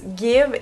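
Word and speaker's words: GXVE: parle de juin 2022 s'écrie gx v e mais on prononce guide et c'est une marque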